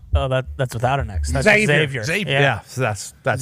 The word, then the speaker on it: Xavier: Xavier worthy Xavier worthy are we supposed to pronounce the x or not I'm not 100% sure when we were calling this college game I believe they said ex Xavier worthy okay like X-Men's sick so I'm happy to